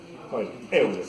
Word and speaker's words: Euler: ¿Qué pronunciación? Alemán. Euler. Euler.